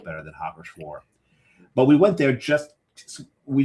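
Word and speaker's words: Hacker-Pschorr: I was going to say before Hacker Shore, and I love the name Hacker Shore because the second name, not Hacker, but Shore. Because the P is silent.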